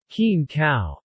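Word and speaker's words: กินข้าว: other rice eating cultures to say eat rice in Thai kin cow pronounced us keen cow means to eat food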